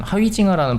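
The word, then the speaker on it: Huizinga: 내가 뭐 아니면 좋아하고 내가 프랑스인인데 근데 그런 얘기들이 있는데 어쨌든 하위징하의 경우는 뭐 그렇게까지는 아니더라도 어쨌든 하위징하라는 발음이 맞는가 봐요.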